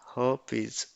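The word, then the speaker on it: herpes: is herpies or heres here R is silent so pronunciation is her is this is is caused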